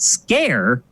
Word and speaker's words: Sker: of this game um it's called made of scare although if you read